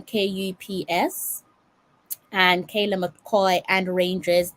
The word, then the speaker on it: KuPS: That's how you pronounce the name, Kups.